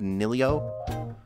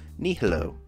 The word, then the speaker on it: nihilo: I've said nilio before, but that is not how it's spelled. Nihilo.